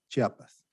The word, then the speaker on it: Chiapas: it says right there chiapas oh right you pronounce chiapas yes chiapas chiapas is a state in mexico one of